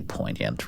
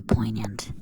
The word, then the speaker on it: poignant: the characters are really poignant, really. They they didn't really um leave a mark, I guess. I don't know how I stretched poignant into three syllables there, but I meant to say poignant.